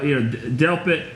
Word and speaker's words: Delpit: yeah but you know you said it right Delp it Zagreb McKinney I think is I think is